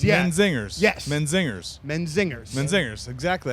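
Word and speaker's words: Menzingers: know you guys are out with zingers right men zingers yes men zingers men zingers men zingers exactly that's how you pronounce it not a lot of people know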